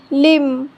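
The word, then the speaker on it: limb: B silent तब होता है जब बी से पहले एम आता है तो बी साइलेंट होता है।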